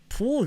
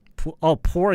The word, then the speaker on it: poor: When you say this word, 이게 발음이 우로 시작하면 안 돼요. 푸로 시작하면 안 되고 포로 시작해야 돼요. 포. not 푸. 포. 그래서 이게 poor가 되면 안 되고 poor. 우 발음이 안 나요.